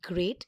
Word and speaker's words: great: Watch out for meat and great and threat. They rhyme with sweet and straight and debt.